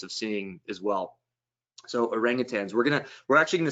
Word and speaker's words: orangutan: off the bat um people often hear the word orangutang and they put a g on the end that's totally fine if